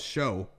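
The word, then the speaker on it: Shough: Is that pronounced his name Shuck? I thought it was show. H Shuck. Yeah.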